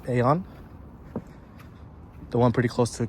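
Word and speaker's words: AEON: My friends took me to the Eon Mall, and for my English speakers, it's pronounced Aon, the one pretty close to Camp Foster.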